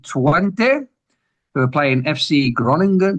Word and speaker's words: Groningen: who are playing FC Groningen. Groningen, how do you say that, Rob? Groningen. Oh, yeah, totally different.